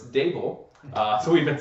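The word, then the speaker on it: Daboll: So it's Dable.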